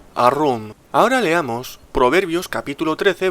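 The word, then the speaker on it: ערום: Se pronuncia Arum.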